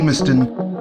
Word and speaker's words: Limerstone: I recently found out after filming is actually pronounced Liston we briefly encounter the route of the walk